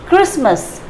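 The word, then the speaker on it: Christmas: रखेंगे तो आप बिलकुल सही जैसे कि वह क्रिसमस क्रिसमस ट्री को सफेद रखना है तो यह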